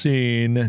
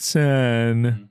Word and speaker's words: Seine: You talk about the Seine River is pronounced Seine, not Seine.